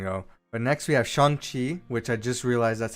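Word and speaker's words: Shang-Chi: is going to go but next we have shang chi which i just realized that's how you pronounce it from kevin feige thank you and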